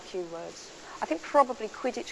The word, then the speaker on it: Quidditch: words I think probably Quidditch because it rhymes with pitch you know it felt